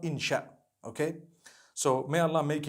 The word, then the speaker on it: insha: in means to create no one says inshi Allah they say insha Allah that's what it